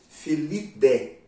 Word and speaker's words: Felidae: Então, quando eu tenho lá assim, felidae, felidé, como é a pronúncia, né?